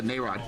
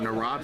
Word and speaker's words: Nayrod: up, and Jessica Nayrod, who I constantly had the emphasis on the wrong syllable while calling the game. I thought that it was a schwa and not got along. I called her Narod for the entire game. Her name's Nayrod, my name's Nimrod.